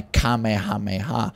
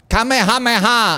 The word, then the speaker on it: Kamehameha: Kamehameha, I think, is the correct way of pronouncing that.